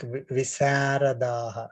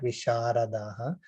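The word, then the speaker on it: विशारदः: So it is specifically mentioned like visaradaha, not visharadaha. I know, again, this is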